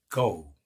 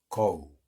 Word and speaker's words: go: 또 어디 가다 할 때 go. 고가 아닙니다. 고우입니다. go.